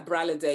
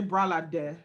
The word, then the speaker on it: Bralade: you have been a bralette yeah braley day thank you so much for coming on one day you will learn to pronounce my name say bralade bralade i know how to pronounce